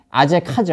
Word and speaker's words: 아제카: B는 뭐냐면 아세가예요. 아세가. 원래 발음은 아제카죠.